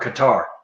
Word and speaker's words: Qatar: to say this properly is it cutter or qatar or or my top everybody says it europeans call it cutter yankees call it cutter southern redneck from georgia calls it qatar so it's